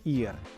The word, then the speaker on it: ir: L'occhio si legge ir ed è il verbo fare.